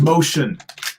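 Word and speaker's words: Moschen: that is a juggler whose name is spelled m-o-s-c-h-e-n so his name is motion nice motion yes oh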